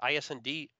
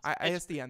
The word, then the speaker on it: ISDN: deliver at most an I can't pronounce it, ISND quality. ISDN. It's ISDN, there we go.